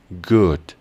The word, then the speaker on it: good: lo referente a pronunciación la diferencia estaría en que la o de Dios se sonaría como una a God got mientras la o en bueno sonaría como una u Good good para facilitar el estudio